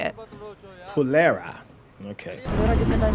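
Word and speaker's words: Phulera: Ticket ticket चलिए चलिए ticket conductor साहब फुलेरा में और कितना टाइम लगेगा ticket Oh, Fulera, that's how you say it. Pulera.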